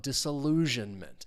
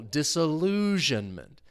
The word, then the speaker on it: disillusionment: Uh in this case, we're talking about disillusionment. Stress is on that thirst. I'm I'm losing can't speak my the third syllable. Disillusionment.